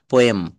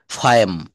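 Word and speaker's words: poem: পোয়েম, নো, ফায়েম। ফ এম। ফায়েম। শব্দের শুরুতে পি থাকলে এর উচ্চারণ প না হয়ে ফ এর মতো উচ্চারণ করতে হবে।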